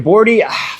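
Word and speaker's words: Borte: And here we get the history and the story of Borti.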